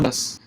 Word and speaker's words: anda: And when you say that, ¿cómo andas? Andas, andas, and you get to the S so quickly, it might also let your ah develop. ¿Cómo anda? It's a stressed syllable, especially in this dialect.